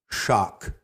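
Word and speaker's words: śak: The word sacred goes back to the Sanskrit root shak, which is spelled S-A-K, and it's found in the word Shakti.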